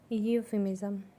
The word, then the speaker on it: euphemism: यूफिमिज़म। यूफिमिज़म। ई इसमें साइलेंट है, इसलिए हम इसे यू से प्रोनाउंस करेंगे।